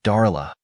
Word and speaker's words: Darla: She pronounced it Darla with an emphasis on the A and I just like that.